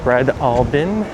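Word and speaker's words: Breadalbane: This is Brelein Street pronounced bread all bin.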